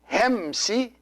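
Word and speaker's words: ϩⲉⲙⲥⲓ: And these two words here, hemsi, see this word, the first word is two syllables, hem and then si.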